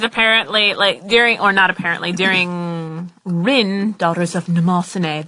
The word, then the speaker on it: Mnemosyne: You told me that because you told me that story because apparently, during Rin, Daughters of Mnemosyne. That's how you pronounce it, by the way, not Mnemosyne.